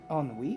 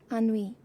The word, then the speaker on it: ennui: Ennui?